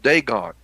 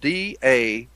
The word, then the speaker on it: Dagon: name down write this name down it's called dagon and it's spelled d-a-g-o-n dagon d-a-g-o-n dagon well dagon was a god